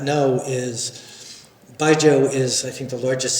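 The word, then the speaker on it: baijiu: It's not wine culture, it's spirit culture, but the role of Baijo, am I pronouncing it right? Ba jo has uh it's always been like this big gift thing.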